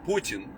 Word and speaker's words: Putin: uh putin putin or i'm gonna pronounce it correct with putin i know it's hard for you guys you guys are americans you know linguistically challenged people putin p-o-o-t-i-n but the t is like soft we have a soft